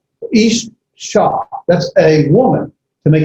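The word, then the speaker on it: אִשָּׁה: It's pronounced, let me leave the vav off, just ish sha. It's double. Ish sha.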